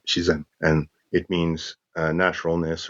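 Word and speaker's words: 自然: uh this chinese word i forgot the chinese pronunciation for it but in japanese it's shizan and it means uh naturalness or spontaneousness and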